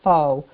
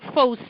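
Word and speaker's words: phở: People say pho, but it's supposed to be pho. I got schooled. You pronounce it pho.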